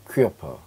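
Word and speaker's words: Körper: 퀴어퍼.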